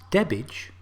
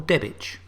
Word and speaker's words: Debach: Debach? Anyway, it's Debbage or Debbich.